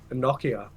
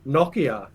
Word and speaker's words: Nokia: quick uh what were you playing snake on noia noia what is that what the is a no noia Nokia oh man that's not how you say it